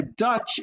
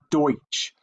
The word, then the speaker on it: Deutsch: And then the Dutch is a mispronunciation of the word Deutsch. And so it's the mispronunciation of the word Deutsch. So it really should be called the Scrubby Deutsch neighborhood, but instead it's called the Scrubby Dutch neighborhood.